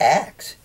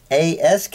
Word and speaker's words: ask: this guy with the axe it's ask it's ask it's not axe it's dialect it's it's